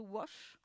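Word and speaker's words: Łoś: and it's ah i write it to remdo wash because this is pronounced wash and i find it very difficult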